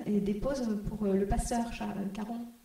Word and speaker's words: Charon: déposent pour le pasteur Charon. Je ne sais pas si on le prononce Charon ou Caron. Charon.